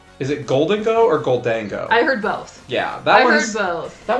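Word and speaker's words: Gholdengo: ghou Dango that's fair I guess it is kind of spelled like ghoul I didn't think about that yeah but they were saying golden go or goldang go it it who knows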